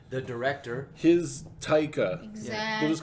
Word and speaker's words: Taika: psycho okay all right taika i think it's taika because it's t-a-i-k-a like i'm going to take a drink yeah sure yes i